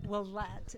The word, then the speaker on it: Willett: Willett.